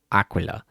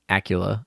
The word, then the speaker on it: Aquila: lot um and i i know how she's pronounced like aquila but when i'm just like i don't know what's going on sometimes i'm just like acula like that's just the